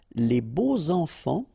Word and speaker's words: les beaux enfants: And here it's quite interesting because even if you've got this X, well, phonetically it will be like Z, so like if it would be an S, okay?